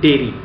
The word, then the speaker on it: dairy: हमारे को क्लेरिटी मिलेगी डायरी स्पेलिंग इसकी होती है डी आई ए आर वाई डायरी इसकी इसकी प्रोनंसिएशन डायरी रहेगी वेर एज पहले वाले शब्द की प्रोनंसिएशन रहेगी डेरी ऑलराइट सो डायरी का